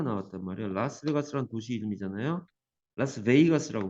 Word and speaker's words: Las Vegas: 라스베이거스라고 발음합니다.